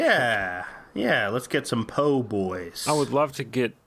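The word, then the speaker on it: po' boy: insist on calling them poor boys hi could i have a shrimp poor boy uh you mean po boy yeah if you have bad pronunciation of the english language wow um no you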